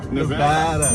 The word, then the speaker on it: Nevada: It's Nevada.